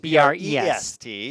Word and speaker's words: Brest: Brest. I was really, yes, in France. It's pronounced B-R-E, spelled B-R-E-S-T.